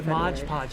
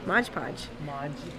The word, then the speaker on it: Mod Podge: can't stop saying Mod Podge yeah it's a Mod Podge sounds better not not mod podgepodge mod podge